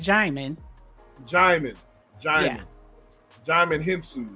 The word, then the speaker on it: Djimon: It's pronounced Djimon.